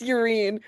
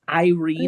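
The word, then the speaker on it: Yrene: I which the think that whole was point is to introduce Urine. it's pronounced Irene.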